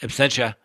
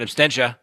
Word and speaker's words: absentia: be charged in absentia that's right absentia not abstention because if I said